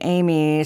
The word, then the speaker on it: Aimee: So, of course, I'm Amy, spelled A I M E E.